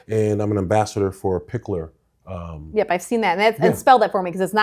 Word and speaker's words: Piklr: And I'm an ambassador for Pickler. Yep, I've seen that. And spell that for me because it's not spelled.